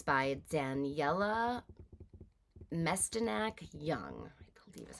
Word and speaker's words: Mestyanek: It's by Daniella Mestyanek Young, is how you pronounce it.